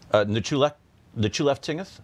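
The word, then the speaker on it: Nchuleftingth: How do you pronounce the public dungeon? Nechulef-Tingeth. So when we worked on it. Nechulef-Tingeth.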